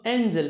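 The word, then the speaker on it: angel: যেমন অ্যাঞ্জেল, এটার উচ্চারণ হলো অ্যাঞ্জেল, এখানে জি জ।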